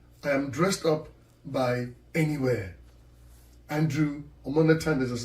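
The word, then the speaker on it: N.E.Wear: where n dot e and then w-e-a-r m-e-m-e-wear pronounced anywhere anywhere ladies and gentlemen thank you very much my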